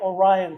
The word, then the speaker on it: Arion: Tonight is the band banquet, and I get to present the Arion, it's A-R-I-O-N, they saw it, Arion? Yeah, well, they'll have to say Orion. Yeah, Orion, that's it, Orion.